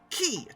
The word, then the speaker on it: ki: with a Q and in Japan it's called key spelled with a K but regardless of what